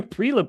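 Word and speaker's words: Prielipp: It's Conor Prelip. I don't think there's too much to it.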